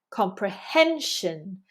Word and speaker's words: comprehension: Credibility, credibility. Comprehension, comprehension. Notice that these words come from Latin and we have penultimate syllable stress.